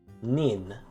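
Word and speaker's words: 人: use to count them the counter for people is simply the kanji for person but it's pronounced as nin however one person and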